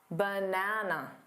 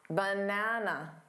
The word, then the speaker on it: banana: The correct way to say this is banana, banana. So which syllable is the stressed syllable? Banana, da-da-da. The middle syllable is the stressed syllable. It's the one you hear the loudest and longest. That also means that the unstressed syllables need to be quicker and quieter. So instead of ba, it sounds like ba, because it's unstressed. It's the unstressed schwa sound.